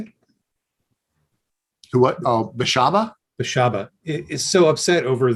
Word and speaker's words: Beshaba: I find it interesting that Bestabi, is it? How do you say it? Who what? Oh, Beshaba?